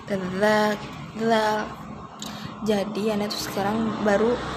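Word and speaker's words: ذال: Dulu sampai nggak ngerti yang katanya kalau zal itu ujung lidahnya digigit dikit, zal.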